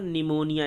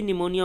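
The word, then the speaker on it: pneumonia: यहाँ पे पी हमारा क्या होता है, साइलेंट होता है।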